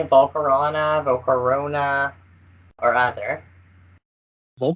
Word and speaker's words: Volcarona: yeah I've got like Volcarona is the correct way to say it but do you know